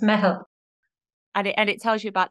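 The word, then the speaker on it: meitheal: Mehel. It's an Irish word. So yeah. I'll excuse you for not being able to pronounce it. It's not easy to pronounce, but it's Mehel.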